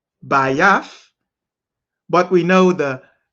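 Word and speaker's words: בית: The key word here pronounced Bayath, Bayath, but we know the X symbol is Tha, Tha.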